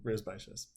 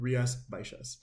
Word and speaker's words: Rías Baixas: This is from Rías, Baixas. You're going to see it has an X in there, and that X is pronounced like a sh sound.